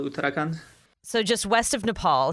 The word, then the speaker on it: Uttarakhand: The city's name is Dehradun, and the state is called Uttarakhand.